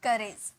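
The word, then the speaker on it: courage: साहस या हिम्मत, उसे हम कहते हैं करेज, करेज, यहाँ पे र का साउंड आएगा, ठीक है।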